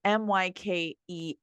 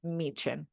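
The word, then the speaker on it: Myken: all the times but they are pronounced like CH so I think I say this mein okay I think that's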